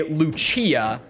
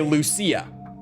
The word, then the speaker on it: Lucia: majority of characters say Luchia but in almost equal amount of characters say Lucia it just depends on who the character is in this game on how they pronounce it so like I